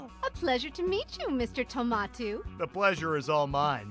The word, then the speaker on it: Tomato: It's Tomato to you. Now get out of here. What? For mispronouncing your name?